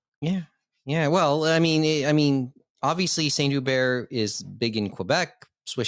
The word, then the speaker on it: Saint Hubert: Saint Hubert. Saint Silent Hubert. H.